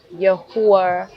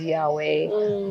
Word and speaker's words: Yahuwah: So for me, Yahuwah, which is what people pronounce as Yahweh, which is the I am, which is breath.